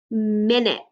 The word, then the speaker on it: minute: And that makes a minute. So min, I see in, right? Min, it. So the U sounds like an I, and the E is silent.